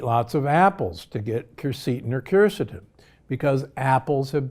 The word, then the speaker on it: quercetin: Another of my favorite supplements is quercetin, sometimes pronounced quercetin.